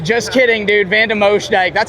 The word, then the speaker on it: van de Moosdijk: Now we got Sand God, Roan van de Moose Dick. Just kidding, dude. Van de Moosdijk.